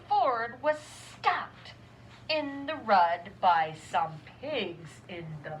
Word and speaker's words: rud: So the rud really means road, but it rhymes with mud, so it's kind of fun.